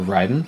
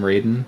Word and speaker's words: Raiden: be brought back up the most official pronunciation for that that I can think of is Metal Gear Solid yeah they pronounce it Ryden yeah they do pronounce